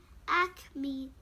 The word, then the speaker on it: acme: A-C-M-E, acme. It's an easy word. It means the highest point of something. Okay? So, acme. It has 2 syllables.